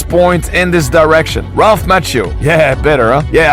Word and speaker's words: Macchio: Yeah, I used to say Ralph Macchio, and I get so much heat in your comments. Guys, this is what you get when a Frenchman tries to pronounce the name of an Italiano-American actor. Anyway, Ralph Macchio. Better?